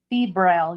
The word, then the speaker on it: febrile: Is that how you pronounce it? Febrile? Febrile, yes.